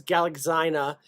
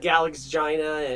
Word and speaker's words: Galaxina: uh Pat Patrick said I read it as galaxina rhyming with vagina wait can you say